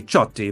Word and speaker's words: Ciotti: Italian it's uh actually supposed to to be chy but you know Ellis Island so my own